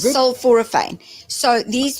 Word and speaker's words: sulforaphane: How do you spell it? So, S-U-L, sulforaphane. That's what it is. Sulforaphane. Thank you. That sounds good. Sulforaphane.